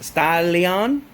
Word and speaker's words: Starion: In the Japanese language, there's no L, I guess you could say. There's no L sound, so they substitute the L's with R's. So it's it's actually pronounced Stalion.